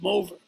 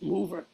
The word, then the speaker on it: Mover: We're playing a concert at this festival in Monterodoni, and he keeps insisting that my name is pronounced Mover. And I said, it's Mover.